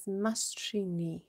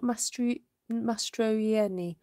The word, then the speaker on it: Mastrini: Ruth, pronunciation is Mastrini. Oh, just Mastrini. Ah, not Mastroieni. Okay, Mastrini.